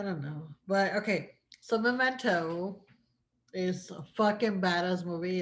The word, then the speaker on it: Memento: Memento. No, I haven't seen it. Memento. Oh, como That's momento, pero con E.